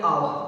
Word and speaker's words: hour: आगे वाला देखो अब HOUR, इसको हम हावर नहीं पढ़ना, नहीं होवर पढ़ना है। इसको क्या पढ़ना है? आवर। क्या पढ़ना है? आवर या फिर आवर।